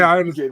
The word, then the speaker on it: Fugitt: Yeah, I actually wasn't sure to pronounce his name. Then I watched the tape and they were saying Fugitt, right?